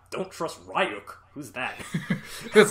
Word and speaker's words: Ryuk: he sees a warning, like, do not trust Ryuk, and he reads it out loud. He's like, don't trust Ryuk. Who's that? That's like my favorite. And sure enough, Ryuk shows up and he's like, it's pronounced Ryuk.